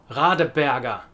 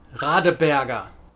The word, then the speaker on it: Radeberger: Radeberger. ER at the end. Radeberger. This is because German pronunciation is non-rhotic. That means that the R at the end of a word is not directly pronounced.